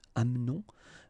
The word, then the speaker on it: amenons: Nous doesn't change, nous amenons, okay, it's a silent here, mute, amenons.